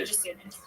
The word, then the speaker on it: Jasiunas: Just soon as the I is silent. Spelled out for us. Oh. JJASIUNAS. Jasunas.